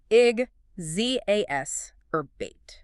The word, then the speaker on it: exacerbate: First, pronunciation. Ig, Z orbait.